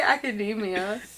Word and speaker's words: academia: you say it like macademia is that not how you say it I say Academia Academia okay we're getting way